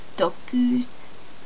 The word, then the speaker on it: dokuz: Really pronounce that, okay? Kuz.